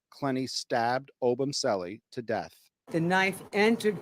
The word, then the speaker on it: Obumseli: Why the fuck do they keep mispronouncing his name? It's Christian Obumseli.